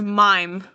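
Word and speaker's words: Meyem: So it's spelled M E Y E M with I in it, but it's pronounced as mime. You know the the mimes.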